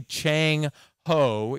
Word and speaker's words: Zheng He: And I've been told that the best way to say it is actually Chang Ho, even though it's spelled the way you see it up there on the left.